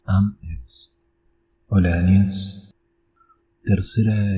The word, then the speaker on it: IAMX: am ex o I am ex. Creo que la pronunciación correcta es am ex.